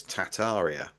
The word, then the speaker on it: Tartaria: Like I was told right at the very beginning that we don't pronounce the first R, that it's Tataria, or it's Mm, Tartaria, or it's Tartaria.